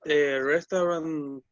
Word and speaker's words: restaurant: noun press restaurant okay that is the right pronunciation guys for this word you say restaurant restaurant no you have you have only two syllables yes what's your favorite